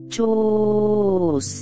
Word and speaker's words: chus: Este mantram se vocaliza así, chus.